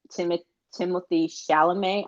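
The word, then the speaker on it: Timothée Chalamet: Zendaya and Timothy Chalamet, I think is how you pronounce his name.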